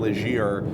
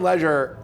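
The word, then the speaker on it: Legere: T-Mobile's name as John leir yes it's apparently John Ledger leder yes which sounds frighteningly similar to John Legend right and both of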